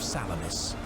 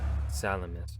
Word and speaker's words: Salamis: Disaster and death in the Straits of Salamis. Salamis. Okay, that's how you pronounce it, not salami.